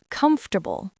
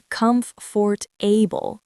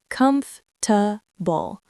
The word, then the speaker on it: comfortable: Next, comfortable, not com-for-ta-ble with four syllables. It's usually three. Comf-ta-ble. Try comfortable.